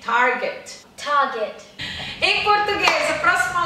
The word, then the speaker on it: Target: Ah, o T é quase mudo, tá vendo? Como no Kmart também. Target.